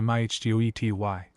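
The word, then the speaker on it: mitote: Your whole mind is a fog which the Toltk called a mito pronounced mih ty.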